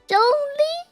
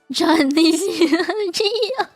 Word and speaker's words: Zhongli: It's an O. Zhong. It's not that difficult, man. Zhongli. If you can fucking say onomatopoeia and spell it, you can say Zhongli.